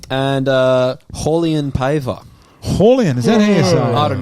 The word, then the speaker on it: Raulian: uh holly and paver horlion is that asl i don't know whenever brazilian has an r in their name everyone pronounce it with an h so it's really on